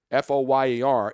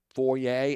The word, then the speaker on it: foyer: Is it foyer or foyer? See, it's spelled the same way, right? F-O-Y-E-R is pronounced foyer and foyer, right?